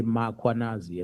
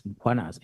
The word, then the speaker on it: Mkhwanazi: them to pronounce Mkhwanazi, they will put an A after M. They will say Mkhwanazi, and there's no A, it's Mkhwanazi, MKH.